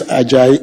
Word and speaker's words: Ajayi: It's spelled first name. This is not. And the last name is Ajayi, A-J-A-Y-I.